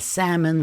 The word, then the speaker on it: salmon: I brought yogurt, lamb, and salmon for brunch. Brought gh and brought is silent. H in yogurt, B in lamb, and the L in salmon. We don't say salmon.